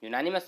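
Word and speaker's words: unanimous: जिसे मैं घेर रहा हूँ देखिएगा, इसका प्रोनाउंसिएशन क्या होगा? यूनानिमस। तो यूनानिमस का पहला अक्षर यो क्या होता है मेरे प्यारे दोस्तों? हिंदी का व्यंजन होता है, व्यंजन होता है, इसलिए ए यूज कर लेंगे।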